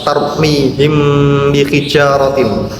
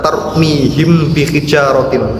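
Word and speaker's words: تَرْمِيهِمْ بِحِجَارَةٍ: bacaan ikhfa syafawi dan cara bacanya harus samar serta mendengung sehingga kita tidak diperbolehkan membaca tarmihim bihijaratin tanpa adanya dengung.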